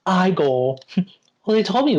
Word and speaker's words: Igor: frankenstein i've seen oh then you must be igor no it's pronounced i goal well they told me it was eager well they were wrong then weren't they oh